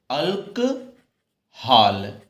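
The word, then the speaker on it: alcohol: इसको जब लिखना होगा तो इस तरीके से लिखेंगे, अल्क हाल। इस तरीके से आप जब लिखोगे तब आपका प्रोनाउंसिएशन क्लियर होगा। अल्क हाल, केवल चांद लगेगा बेटा, बिंदी नहीं लगेगी। तो क्या हो गया, अल्कहाल। अल्कहाल प्रोनाउंसिएशन ठीक से निकालना।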